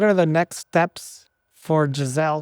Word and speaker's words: Gzelle: No, it's just it's just my name but with a Z cuz my name is originally spelled with the S, but a lot of people don't pronounce the S. It's very it's Jazelle, you know.